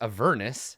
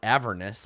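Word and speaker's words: Avernus: that it's called it's a Vernis not a Vernis like I've been pronouncing in my whole life the Internet is ruining my childhood pronunciation of everything rhymes with a furnace I mean so I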